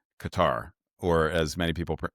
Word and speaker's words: Qatar: It's a form of psyops when he's describing places like Qatar, or as many people pronounce it, Qatar.